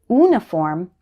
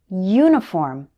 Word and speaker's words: uniform: you hear the difference it also happens with uniform don't say uniform say uniform the letter u should be pronounced like you not just here are some more